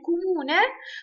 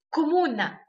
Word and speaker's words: comune: ولكن في غلط الناس بتعملها، وهم بدل ما ينطقوا كلمة كومونه خلاص، لان ده النطق الصح بيقولوا عليه كومونه او كمونه خلاص، فالأعم بيقولوا كومونا، يعني بيك حتى مكتوبة بالعربي كاف ميم واو نون ت مربوطة. طبعا ده غلط، هي اسمها كومونا كومونا مش كومونا.